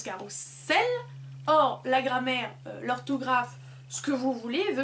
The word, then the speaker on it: carrousel: où carrousel et bats la bonne prononciation c'est carrousel parce que ça a beau s'écrire phonétiquement entre deux voyelles du coup ça devrait être carrousel mais ça se dit quand même carrousel mais ces deux ex